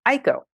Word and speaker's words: Aiko: sweet we named her AKO her now oh Aiko pronounced thank you very much for the pronunciation which